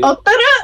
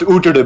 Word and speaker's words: Utada: Otara, I'm gonna start calling it that. Otara. Yeah, it's pronounced Utada, baby, actually.